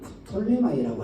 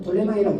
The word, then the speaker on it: 프톨레마이: 그 아프리카 쪽은 이 프톨레마이라고 하는, 그냥 톨레마이라고 그럽니다. 근데 우리는 발음을 할 때 그냥 프톨레마이라 이렇게 얘기하죠. 그들은 그냥 톨레마이라고 얘기합니다.